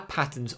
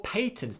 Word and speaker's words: patents: We've also got our patents or patents depends on how you like to pronounce it.